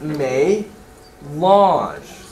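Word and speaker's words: mélange: word below that melange so the uh n when it's small and at the top makes the uh nasalized end sound that you hear in french the uh ah so this is may launch and then anybody want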